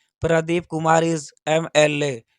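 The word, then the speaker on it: MLA: अगला सेंटेंस है, Pradeep Kumar is एमएलए। ये देखिए हमारा एमएलए है, ये हमारा सिंगुलर काउंटेबल नाउन है, और इसका जो प्रोनाउंसिएशन है एमएलए, यह जो है इसका जो प्रोनाउंसिएशन अ से लेके अह तक है।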